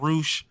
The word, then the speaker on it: Rush: don't push we have Ro I really hate his name is spelled rush but we call him Ro but okay I know